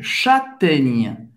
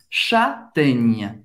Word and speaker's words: châtaigne: Não, o E no final não dá para ouvir, não se pronuncia.